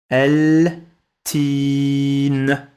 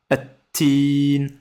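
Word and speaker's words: التين: Pareil, là aussi, Ça s'écrit L-T. Mais ça se prononce at. Donc ça se dira attin, attin.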